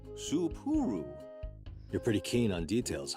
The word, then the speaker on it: Soooo: Spur? No, 3 syllables. Soooo.